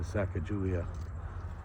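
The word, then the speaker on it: Sacajawea: least in my heart to saca julia or sakakawea as actually i think her name is more accurately pronounced anyway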